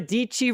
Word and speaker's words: Deichi: the one and only sarah deichi rhymes with peachy announcing lab 22 her